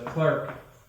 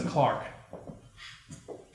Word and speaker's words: clerk: uh like a this in america this is a clerk in england it's a clark if you speak a